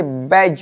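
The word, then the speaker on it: badge: से जी से पहले अगर आपको जी से पहले आपको डी लिखा हुआ मिल जाए तो वहां पर डी आपका साइलेंट रहेगा जैसे सबसे पहला जी से पहले डी है इसे बैज पढ़ेंगे इसे एज पढ़ेंगे इसे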